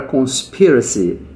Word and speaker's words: conspiracy: Então, a palavra conspiracy vai ser muito importante. Conspiracy. Olha ali. Conspiracy. Esse spe é que é forte, tá vendo?